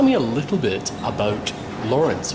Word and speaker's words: Lawrence: Why is it called Lawrence as opposed to Laurence as I pronounced it yesterday? Well, I guess it depends who you ask. Some people might say it's called Laurence. I guess French people often call it that. Like, it's called Lawrence after the name of